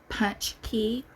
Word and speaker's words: pączki: it's pronounced Punchy Punchy kind of like punch key or punch key punch key something like